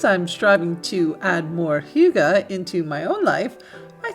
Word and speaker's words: hygge: definition of the word hygge. Now in English, it does not look like the way it's pronounced, but it is a Danish word and a Danish concept, and it means a